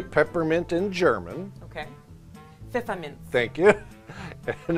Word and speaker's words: Pfefferminz: Pfefferminz.